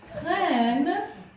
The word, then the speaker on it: prennent: Versus prennent when they take. Oh. So, and I'm going to cross out the ENT because this is silent.